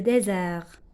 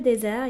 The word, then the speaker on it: désert: Il habite dans le désert. Le désert يعني تعني الصحراء. Le désert. D accent S E R T. Regardez, S entre deux voyelles, ça se prononce Z, désert.